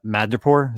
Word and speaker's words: Madripoor: And it's like him in what'd you call Madripoor? Is that how you say it? Yeah. Madripoor.